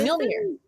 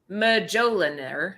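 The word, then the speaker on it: Mjölnir: Oh, Mjolnir. Mjolnir. Yes. Bob the Builder. Mjolnir. I think Finally, it's she pronounced got Majoliner.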